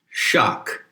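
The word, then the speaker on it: sak: So the PIE root of sacrilege is the word shak, which is generally spelled S-A-K, but the S is pronounced with an H. And shak is a phoneme close to shock, right?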